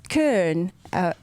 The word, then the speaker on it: Köln: And it's Köln auf Deutsch.